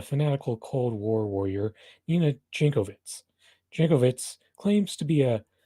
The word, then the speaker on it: Jankowicz: This is Nina Jankowicz. For some reason, she doesn't even have her name pronounced with the original accent, like if that were the case, it'd be Yankovic. To run this disinformation governance